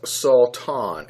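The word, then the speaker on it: שטן: And it's believed to be pronounced as Satan, S-A-W-T-A-W-N.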